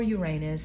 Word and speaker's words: Uranus: systems okay and Uranus is also the planet Uranus or Uranus people pronounce it in different ways it's about Freedom